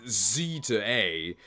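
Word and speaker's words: Z-A: show something about Legends Z to A apparently that's how it's said in Japanese it's literally Zed a so Z to A my greatest fear for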